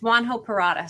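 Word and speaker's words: Juan José Purata: same thing we're like how do you say his name it's juan ho parata so we asked about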